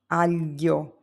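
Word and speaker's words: aglio: You have the three letters g l i. This sounds like le in millions. It's a softer than a plain l. You have words like filio which means son, fio, and alio which means garlic.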